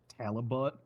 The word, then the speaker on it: Talibot: Talibot rhymes with halibut.